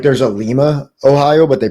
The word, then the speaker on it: Lima: yeah they have a they have a Lima uh and if you say Lima to anyone I work exclusively with the population from Ohio and if you say Lima to them they say Lima it's lima lima they pronounce it Lima yeah what oh